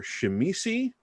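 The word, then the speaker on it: Tzimisce: The Zimis, or Shemisi, is apparently the official pronunciation that I refuse to personally accept.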